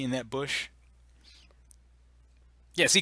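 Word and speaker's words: Busch: so you ever thought about how you don't pronounce like the C in that bush yeah see C is right just say bush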